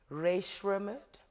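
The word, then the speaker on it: Rae Sremmurd: So, French Montana, Ray Shremmerd, did I say it right?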